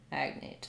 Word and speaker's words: agnate: oga agnostic um it has uh its first syllable stress agnet agnate so yeah same as as um agate let's look up Agate